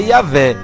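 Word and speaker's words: Iavé: que yavé não tem não seria melhor porém usar a forma que talvez se aproxime mais da pronúncia original realmente não você viu claramente a própria revistas das testemunhas Jeová afirmar que a forma que talvez mais se aproxime da pronúncia original do nome de Deus é yavé eles não disseram Jeová veja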